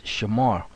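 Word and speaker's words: שמר: consists of four letters so if you write it out like that Shara when you put it together it's Shamar that's how you say it but then when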